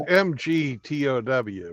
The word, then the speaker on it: MGTOW: They mispronounce it. I don't know if they're trying to be disrespectful or if they're just that stupid that they don't know how to enunciate words. Well, it's MGTOW. What, we say MGTOW, right?